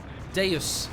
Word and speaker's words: Deus: victory point battle for a moment until the Due Machina came into play. Deus, a Machina rather. I tried to remember how that's pronounced.